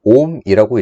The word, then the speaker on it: 옴: 전기 저항의 단위는 옴이라고 읽고요.